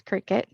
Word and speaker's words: Cricut: an in-depth look into qriket machines their accessories potential uses and more if there was any confusion on how to print pronounce Cricut it is indeed said just like the bug which is why earlier